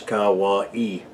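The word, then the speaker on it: Kauaʻi: primarily anahulu and Hawaii that spelled ka ua i and pronounce Kawa e now the anahulu valley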